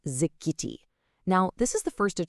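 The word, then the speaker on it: זכיתי: The word is zikiti, pronounced zikiti.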